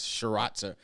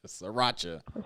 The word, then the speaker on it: Sriracha: like hot sauce maybe she likes shiraza so how you say it sriracha sriracha what is it called